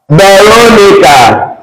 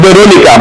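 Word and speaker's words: Verónica: I will also have Veronica. In English, you can say it's Veronica, but it's not Veronica. So the V is replaced with what? B. This is Veronica.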